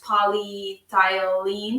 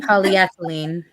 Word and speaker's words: polyethylene: that was made with it which i cannot pronounce polythylene polyethylene there we go um that bottle of water